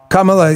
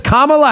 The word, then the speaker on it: Kamala: Kamla. He see he's trying to pay don't mispronounce it. Jim Acasta will definitely get on you. He says Kamala Harris. Kamala you call her Kamala even though they called her Kamala before.